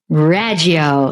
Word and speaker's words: Raggio: tell people I'm like say my last name like you're trying to pronounce Italian food and you will get it right so it's raggio like go fettuccine